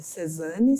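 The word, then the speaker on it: Cézanne: obra cinco banista de cesane CESAN eu pronuncio assim tá porque tem uma cento então é cesane de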